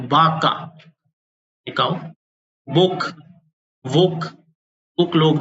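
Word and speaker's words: vaca: अपन कहते हैं craze Baka we का साउंड व की तरह होता है तो बाका एक बुक वोक बुक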